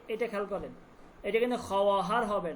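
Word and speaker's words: خواهر: খহার। খহার মানে হচ্ছে বোন। এটা খেয়াল করেন। এটা কিন্তু খহার হবে না।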